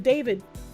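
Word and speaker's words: D4vd: the real name of David. I really hate how they do that considering his stage name is D4 VD and it's pronounced David anyways.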